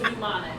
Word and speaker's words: mnemonic: Everyone See, says mnemonic.